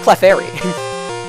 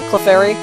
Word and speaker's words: Clefairy: I guess I was just talking about Cleffa and so I was like still in cleft mode when really it's pronounced more like Clefft in Clefairy.